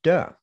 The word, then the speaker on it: Te: basically as quite literally the classic of Tao and De, as it's pronounced.